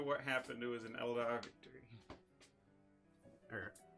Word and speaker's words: Eldar: no matter what happened, it was an Eldar victory. Or Eldari, or however you pronounce Eldari. it. Yeah. It's not Eldari. It is. It's Eldar. That's what I say.